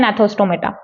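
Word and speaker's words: Gnathostomata: Vertebrates को इसको बोलते हैं एग्नाथा, इसको बोलते हैं नेथोस्टोमेटा। ठीक है, एग्नाथा ए को साइलेंट मत रखिएगा, इसमें जी को साइलेंट रख दीजिएगा, नेथोस्टोमेटा।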